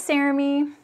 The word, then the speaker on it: Cerami: to see you um my name's cerami rhymes with jeremy and yeah this is